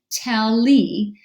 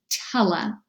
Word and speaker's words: tele: analysis of this word it looks like an open syllable tally it's usually pronounced with the schwa pronunciation tella now do you have